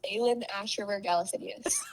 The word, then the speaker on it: Aelin Ashryver Galathynius: It's Aelin Ashryver Galathynius.